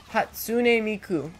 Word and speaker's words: Hatsune Miku: You can't pronounce her name, it's Hatsune Miku.